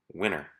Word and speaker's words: winner: As I read them, notice how I just glide over the letter T in my pronunciation. Interview, enter, printer, winner.